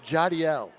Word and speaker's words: Jadiel: of his first name we've been saying jadil all this time it's jadiel okay johnny yelling shot